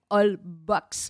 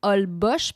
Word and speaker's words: Holbox: h olb os x alors on dit pas holbox mais on dit hall bosch parce que dans le fond le x on le remplace par le ch en raison des digues la langue